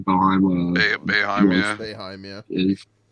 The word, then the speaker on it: Boeheim: Boeheim.